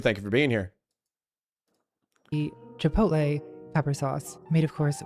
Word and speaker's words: Chipotle: I remember when suburban moms could not pronounce the name Chipotle. They were like Chapatle.